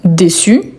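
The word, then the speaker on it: déçue: La prononciation ne change pas mais à l'écrit, il faut ajouter la marque du féminin. Je suis vraiment déçu.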